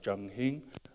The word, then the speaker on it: Jung Hing: And so the characters here on our shirts are Jung Hing, which is just slightly different. It's a Cantonese pronunciation.